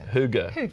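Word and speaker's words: hygge: I learnt this phonetically it's actually pronounced huger bigger who go oh good okay so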